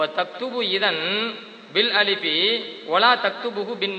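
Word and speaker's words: إذن: ஆனா உச்சரிப்பு எப்படி வரும் கேட்டா அலிஃபு தாலு நூனு இதன் அலிஃபு தாலு நூனு அதை தான் விளக்குறாங்க.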